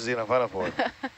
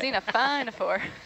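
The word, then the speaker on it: xenophyophore: it in a sentence please look at this Zena for look at it Zena for I don't know if that counts nice little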